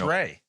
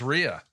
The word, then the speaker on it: Rea: I called him Chris Ray. I don't know what it is. It's Rhea. Rhea. Based on the people on my Facebook page, it is Rhea. And if I say Ray, I'm in fear for my life.